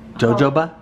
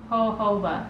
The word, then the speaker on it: jojoba: That we totally pronounced that wrong. I know, it's hobobo. Hoboba. Jojoba? Hohoba.